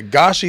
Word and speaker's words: Gashi: I wanted to make sure I got it like Yeah, Gashi is correct. Gashi is American. So, I like, you know, being your but the natural. We need the family name. Goshi.